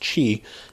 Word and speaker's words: Qi: have aqi charger or you also may see it as Qi but it's pronounced Chi it will allow you